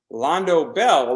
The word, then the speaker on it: Londo Bell: Char's counterattack is called Londo Bell. Londo Bell rhymes with Taco Bell.